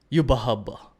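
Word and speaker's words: Yhwach: Now we have Yubahub. That's how they say it in the Japanese dub.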